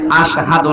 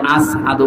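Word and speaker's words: أشهد: হযরত বেলাল ওনার জহব্বা ছোট ছিল, এই জন্য আশহাদু না বলে আসহাদু বলে ফেলতো, শুদ্ধভাবে উচ্চারণ হয় না।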